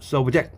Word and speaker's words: subject: 복종하는, 받기 쉬운 뜻이고, 그 다음에 동사일 때는 subject 이렇게 발음해서 지배하다, 복종시키다 의미가 있습니다.